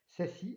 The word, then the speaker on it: SASE: C'est le Secure Access Service Edge, qu'on prononce donc SASI, et qui constitue la prochaine grande transformation réseau et sécurité pour les organisations.